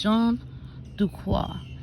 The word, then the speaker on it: Jean Duquoc: how are you today his name is John Dua and that's how to say it from with the French accent let's say together Jean